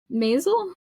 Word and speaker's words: Maisel: And I was like, Maisel?